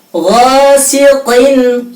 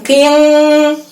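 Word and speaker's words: غاسق: Ghasiqin, qin, bukan qing, tapi jelas.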